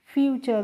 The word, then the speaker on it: future: अब देखो FUTURE, तो FU को हम पढ़ेंगे फ्यू और TURE को बच्चों चर पढ़ेंगे, तो FUTURE को हम फ्यूचर पढ़ेंगे।